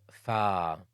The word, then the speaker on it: ف: The 20th letter is fa. It's like you're saying fire, fire, fire.